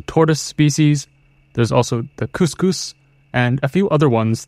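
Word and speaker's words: cuscus: Just want to make sure that is couscous not the same couscous as a food in India? Yeah, not the rice. So it's spelled C-U-S-C-U-S.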